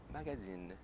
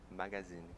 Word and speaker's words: magazine: Agora, revista é magazine, magazine.